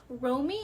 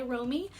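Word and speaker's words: Romi: But we have our main character, Romy, I believe is how you say her name, R-O-M-I, Romy, and so she transforms into a magical girl, which is Princess Heart, because she is actually a princess.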